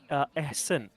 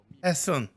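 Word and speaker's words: Ehsan: H, and then how you spell son is like Ehson. It's it's kind of Arabic word with some of the connectors and stuff like that. I So was sorry, how it do you is pronounce it? it pronounced at Ehsen. Essen. Yeah, Ehsen. Sun like S-U-N son.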